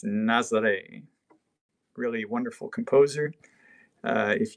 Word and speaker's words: Nazareth: Nezzer they spelled like Nazareth but pronounce nozzle a really wonderful composer